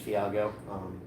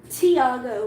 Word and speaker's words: Thiago: Yeah, I watched some things on Disney XD Thiago. Tiago, bro. Say his name right.